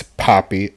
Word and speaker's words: Poppy: Well, you said Pappy wrong. It's Poppy, okay? I don't care. I said Pappy because it's funny. I like it that way. I mean, I get it. It's Big Poppy, okay? You gotta say it right.